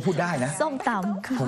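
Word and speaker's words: ส้มตำ: Say อ your pronunciation is on Point you pronounce ส้ม ตำ ส้ม ตำ Perfect Oh my god Yes you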